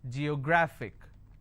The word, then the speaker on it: geographic: G yo graphic and the rule says if I have a word ending with IC I need to stress on the second last syllable so I'll pronounce this as Geographic if I have another